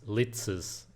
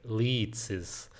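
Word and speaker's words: Ličis: It's uh Martin Leitzes. The reason I'm probably one of the only people online who can pronounce his name correctly is because we are from the same country, Latia.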